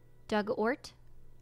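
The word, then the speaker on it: Dugort: past tense of dig ort rhymes with hurt oh hurt Okay so Doug ort I think to the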